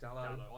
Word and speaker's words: Dalot: Dallo. I pronounce it Dallo, but he can pronounce You could.